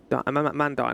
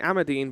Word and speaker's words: Amandine: of Lady am amandine amandine I can't say her name want to say amadine but it's not while little was known